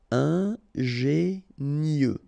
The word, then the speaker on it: ingénieux: Final X not pronounced, so I-E-U, I-E, nieux. Ingénieux.